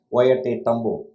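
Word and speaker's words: Ollantaytambo: itself is quite a tongue twister it's called polenta tambo it's pronounced as wyatt tambu google that and see the spelling it's surprising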